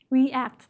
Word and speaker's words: react: word it's the same EA but you don't pronounce it at that long e you actually each letter represent a sound right react the reason why is because the second word